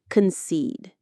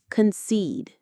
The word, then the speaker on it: concede: Concede. Again. Concede. The stress is on that second syllable, seed, which rhymes with words like need or seed.